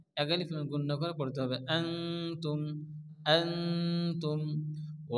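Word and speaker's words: أنا: কি আছে জবর না এখানে কিন্তু আলিফ মাদার মত টানজি পড়া যাবে না এখানে আলিফ বাদ যাবে এটা হচ্ছে রসমুল খাত আমরা কায়দা পড়ে এসেছি লেখা আছে কিন্তু উচ্চারণ হবে না আনা আনা এখানে আলিফ মাদ্দা এক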